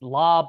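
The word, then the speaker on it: Laube: say his name yeah I I think it's it's it's lob La uh it is spelled uh L Au Ube his his Peak backfield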